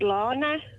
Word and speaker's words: Lana: Spelled Lana. Yes. So I'm assuming it's pronounced Lana.